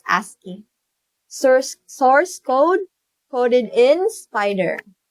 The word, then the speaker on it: ASCII: ASCII art, that's ASCII, pronounced ASCII.